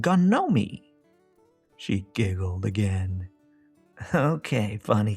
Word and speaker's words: Ganomee: Gnomie. he said proudly. G N O M E. She laughed. Doesn't that spell gnome? Not where I come from, he said. It's Gnomey.